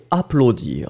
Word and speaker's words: applaudir: mention the fact that remember that when you have A, U together, I mean these two vowels, then you will get the sound O, O, O. So applaudir, okay?